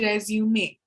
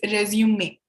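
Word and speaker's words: résumé: correction is it's a resume it's a french word that's why it's pronounced differently it's resume okay we'll say it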